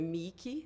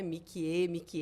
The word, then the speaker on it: Miki: Então é Miki, né? Mikie, todo mundo por causa da letrinha E, como pronuncia e tal.